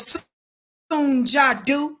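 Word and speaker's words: Soon Ja Du: And a funny looking foreigner by the name of Soon Jadu. I call her Miss Doo Doo. Last name is spelled, her name is Soon, S-O-O-N, Ja, J-A, Do, D-U.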